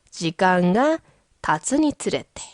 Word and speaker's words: 時間が経つにつれて: 시간이 지남에 따라 지간가 타츠니 쓰레테. 참고로 이 발음이 은근히 어려워요. 이 쯔는 한국 사람들이 힘들어하는 발음 중에 하나죠. 근데 이게 연속으로 나오니까 발음이 힘드시면 좀 천천히 가세요.